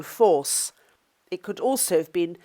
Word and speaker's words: foss: meets the Thames here, and foss is pronounced with the British long O, force.